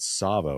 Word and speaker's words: Savo: the founder of uh CrossFit, Savo, right? That's how you say it.